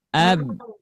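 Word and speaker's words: ب: Makhraj huruf ba keluar dari bibir merata pada kedua bibir. Dari pengucapannya seperti ini. Ab. Nah, cuman jangan sampai ditekan ya. Nah, itu ditekan ya. Biasa aja. Nah, seperti itu ya pengucapan huruf ba.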